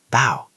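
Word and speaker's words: bough: That's ow like cow. Bow.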